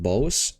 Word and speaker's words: bogs: the bug with him bogs is pronounced boss I'm going to call it bogs cuz that's how I've